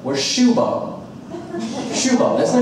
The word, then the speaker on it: Shubham: Now, it's not spelled how I'm saying it. It was spelled S-H-U-B-H-A-M. But even he pronounced it Shubham, which was amazing to me.